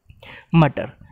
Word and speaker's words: mutter: आज का पहला वर्ड है मटर, MUTTER, ठीक। मैंने पहले ही बोला है, आप डबल टी ना बोलें, ठीक है। डबल टी बिल्कुल भी प्रोनाउंस ना किए, आप इसको बोलें टी टी, ठीक।